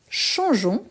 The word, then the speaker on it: changeons: Donc, pour éviter les sons, on ne prononce pas les E, mais on l'écrit.